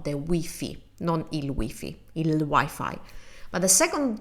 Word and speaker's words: Wi-Fi: But with many technology words, we use the English in Italian and we use or try to use the English pronunciation.